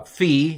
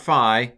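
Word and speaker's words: phi: way right um uh Fe it's not fi that's fraternity language or sorority language it's Fe in in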